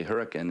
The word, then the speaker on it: Hurricane: In southern Utah, people say hurricane, and they get laughed at like, oh, they took it and they somehow made it bad, and actually, that's just the British pronunciation. If you go to Great Britain, you say hurricane.